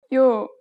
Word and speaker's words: 요: 야 야 sound together in English butorter U you and the next vow is again add a short y sound to the listen to the pronunciation 요 Now reviews that have at the beginning.